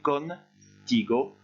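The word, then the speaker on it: contigo: Même chose, faites une petite pause entre le N et le T, con, ti, go, pour réussir à le prononcer facilement.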